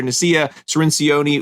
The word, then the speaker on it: Nasiah Cirinci: out there because we are joined by doctor nacia serencione ulazee did i say it right did i